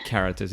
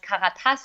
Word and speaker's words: Karatas: Because Karatas is today with us here for many reasons